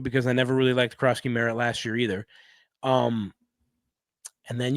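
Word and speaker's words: Jacory Croskey-Merritt: Let's see if I pronounce his name. Krosky Merritt. Is that correct? Yeah, Ja'Cory Krosky Merritt.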